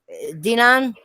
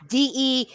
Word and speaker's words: Deunan: Dinan, Duna, Dion. I'm not saying it right. I'm sorry. I apologize. It's Deunan. He said TTFP will beat Randolph's ass with her PS4 controller.